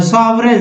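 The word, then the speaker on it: sovereign: सॉवरेन, सॉवरेन में दोस्तों जी नहीं पढ़ना है, यानी महाराजा।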